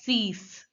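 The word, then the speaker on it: six: thank you again sunk 6 is pronounced as cease sees sees see the eye over here is pronounced as e e and a x is pronounced as s so it becomes C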